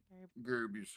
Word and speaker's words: Gary Busey: Gary Busey.